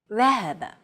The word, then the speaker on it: ذهب: Modern Standard Arabic, however, would remove the vowels, so it would appear like this, and be pronounced ذهب.